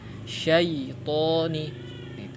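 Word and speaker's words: الشيطان: Di sini terkadang kita membacanya dengan harokat yang miring ya, syaitoni seperti itu. Maka harus kita menyempurnakan harokat fathahnya pada huruf sya, syaitoni.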